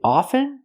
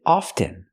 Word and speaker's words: often: confusing word is it often or is it often well people say it both ways I prefer to pronounce it with the silent t i don't pronounce the T I say often I speak English very